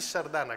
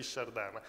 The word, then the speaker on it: Shardana: detto chi erano Allora gli Sardana che poi ho scoperto che molti chiamano anche is Sardana Però pare che la pronuncia giusta sia gli Shardana erano dei la popolazione